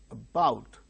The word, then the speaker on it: about: examine about about a about two syllables are there but the initial syllable a is very weak about so because it is not stressed it becomes weak and the syllable which is uttered with greater force is said to be stressed or accented so the second syllable bow above about likewise potato